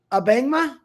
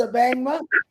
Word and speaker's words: Abangma: Abangma? Is that how you say it? Wonderful, wonderful. You got it right. Cool. Well, on that note, Mr. Abangma.